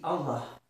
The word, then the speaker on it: Allah: est le nom, là, et qui se dit Allah. Je vais le traduire. Donc, le nombre 23 cache le mot Allah.